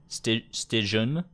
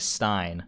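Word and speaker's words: Stijn: All Americans and English people usually say Stijon, but it's pronounced like Stein.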